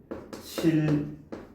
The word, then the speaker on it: 신라: 얘는 우리를 발음을 신라 이렇게 발음을 합니다.